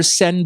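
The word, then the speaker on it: Seine: जिसके बाय द वे इसके स्पेलिंग है एस ई आई एन ई एन E sorry but इसको river सेन बोला जाता है अ प्रोनाउंस किया जाता है इसमें 100 साल से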